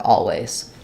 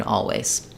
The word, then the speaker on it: always: want to think about if you think the L even if you don't finish and execute on it you're going to get the correct Sounds here versus if you just think of it as this vowel a it's not going to sound correct in always um okay so yeah